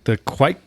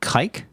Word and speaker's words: Quake: you pronounced it kike. Whoa, Quake.